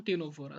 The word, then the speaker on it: Ctenophora: Phylum टीनोफोरा, CTNO लिखते हैं लेकिन पढ़ते टीनोफोरा है, इसी यहाँ पे साइलेंट है।